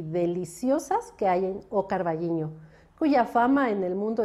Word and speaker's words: O Carballiño: con la del ayuntamiento de o carballiño así se pronuncia en gallego o bien carvallino si lo dice en castellano y bueno pues aquí